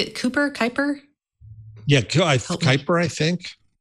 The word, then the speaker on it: Kuiper: Kuiper. Kai as in guy. Guy as in guy. Kuiper.